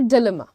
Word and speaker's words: dilemma: You'll say dilemma. Dilemma, okay? Diljit Dosanjh, Dilluminati, dilemma. That's how you say it.